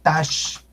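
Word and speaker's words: Taxco: Tasco, tasqueña, que tiene la etimología tiene que ver con plata, es tashco, tashqueña.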